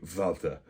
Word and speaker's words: Walther: You will never hear an American calling a Walther a Walter. I am aware that there is a pronunciation difference.